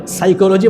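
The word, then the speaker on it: psychology: সাইকোলজি বানানোর শুরুতে কি আছে? পি আছে, PSY, তো বানান করতেছে পিছে চলো যাই।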